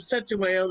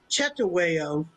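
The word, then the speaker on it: Cetshwayo: But it was hmm his, I don't know if it was his nephew or, well, some people pronounce it Cetaweo instead of Chetaweo.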